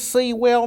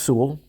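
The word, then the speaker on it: Sewell: and I usually get someone say is this seawell New Jersey let see it's pronounced Su but enough of that um I did see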